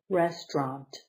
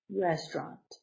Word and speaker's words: restaurant: the plane restaurant okay two syllables restaurant restaurant the accent is the beginning restaurant a place where